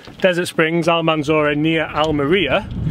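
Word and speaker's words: Almería: Springs almonds or Ania al meriya I call it Alan Malia now because that's our Garcia pronounces it yeah he looks the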